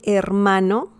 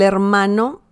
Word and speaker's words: hermano: So that's the pronunciation. El hermano.